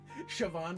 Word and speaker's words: Siobhan: you've shown me the light of the correct pronunciation all right there you go much better siobhan dragon yeah a little celtic in there i